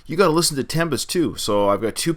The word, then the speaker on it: 7empest: And Jeff told me, hey, you need to react to Tempest, and I believe it's pronounced Tempest, even though the word starts with the letter 7.